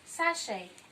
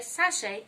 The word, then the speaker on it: sachet: So you say sachet, and take note that letter T is silenced in the word. So you say sachet and not sachet.